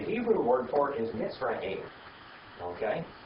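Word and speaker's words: מצרים: Mitzrayim. Mitzrayim. Now, the Greek word for Egypt is Egyptos. We get our English word Egypt right out the Greek. But the Hebrew word for it is Mitzrayim.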